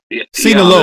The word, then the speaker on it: Sinaloa: Sinaloa.